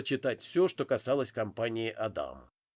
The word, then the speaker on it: Адам: Я вышел на просторы интернета и начал бегло читать всё, что касалось компании Адам. Ударение, как оказалось, нужно делать на вторую букву А, а не, как сказала девушка, по телефону.